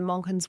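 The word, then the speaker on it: Manchán: And this is another one of the beautiful things, that Monken's work was really about showing, was that so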